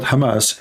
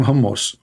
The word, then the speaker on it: Hamas: hamus hamus terrorist Trump he do not know how to say the word Hamas he called him hamos he just called Hamas